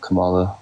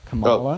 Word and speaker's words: Kamala: out her policy also her name is pronounced Kamala not Kamala sorry I know you